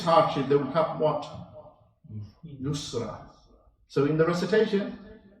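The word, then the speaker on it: يسر: Yusra. So in the recitation, you have to be very careful how you say it. Usr and Yusr. Two different words altogether, very close in sound.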